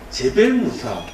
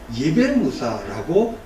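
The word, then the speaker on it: جبل موسى: 그리고 그 지역에서는 제벨무사, 발음에 따라서는 예벨무사라고 이야기합니다. 무슨 뜻이냐면 모세의 산이다.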